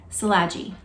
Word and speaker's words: Szilagyi: in the back because they have the proper pronunciation of his name, Szilagyi.